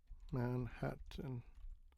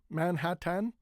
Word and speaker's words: Manhattan: So again, do we say Manhattan? Manhattan. We don't say Manhattan. We say Manhattan. Manhattan. You can say Manhatt Manhattan with a strong t and in. But many people say Manhattan. Hatton. Hatton. Okay.